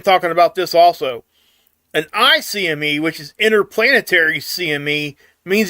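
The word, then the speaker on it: ICME: all right so the the technical the right way to say it would be I CME when it's coming to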